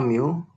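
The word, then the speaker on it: μ: Nah, kemudian kita membuat model tentatifnya itu Y sama dengan, ini dibacanya mu, plus CD plus BD.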